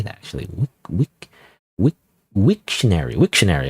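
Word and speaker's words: Wiktionary: Wikary. How do you say that actually? Wictionary. Wictionary. Oh, it's wictionary, not wikary. It's wictionary.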